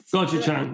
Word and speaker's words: Gochujang: Gochujang, yeah.